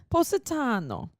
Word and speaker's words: Positano: i've been there and i called it positano am i doing it wrong how do you say it positano it's positano yeah not positano yeah that sounds so wrong